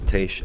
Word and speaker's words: Tiesj: Tiesj, I was getting lessons from Maxime in pronunciation of your name. It's Tiesj. Tiesj, yes.